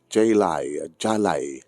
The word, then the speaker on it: Jelai: Di surat ganyan tayo ba sa padaanan nyo, ti pagkasalitaan ni Jalay. Ano pa naman pronunciation na niya? Jalay. J-E-L-A-I. Jalay.